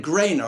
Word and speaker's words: Grainer: Grana? How do you pronounce his surname? Grainer. I thought it was like AI, but I think it's NER actually. Yeah, it's NER, isn't it?